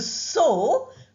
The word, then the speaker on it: sew: Do you know how to sew? We write S-E-W, but we pronounce as S-O.